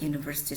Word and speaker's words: university: The word university starts with a consonant sound university though it begins with a letter u.